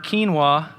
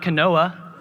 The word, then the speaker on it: quinoa: fit into one load quinoa is pronounced quinoa and not Kanoa and coffee truly is